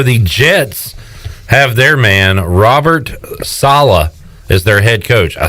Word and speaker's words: Robert Saleh: So the Jets have their man Robert Saleh as their head coach. I saw on Twitter somebody said that to pronounce the last name just rhymes with Holla.